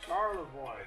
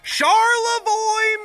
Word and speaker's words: Charlevoix: Charlevoix. Charlevoix, Michigan. I saw it on there. It's in Michigan. They got those French spellings like Detroit, Detroit. That's how you say it in French.